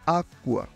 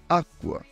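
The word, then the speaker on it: acqua: বেশি প্র্যাকটিস প্রয়োজন যেমন আকুয়া আকুয়া বাংলায় যুক্তবর্ণের মতো আকুয়া চিত্তা চিত্তা চিত্তা বাংলায়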